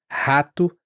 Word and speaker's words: rato: Esse R, ele ele tem um som parecido até com o do H no inglês americano, rato carro.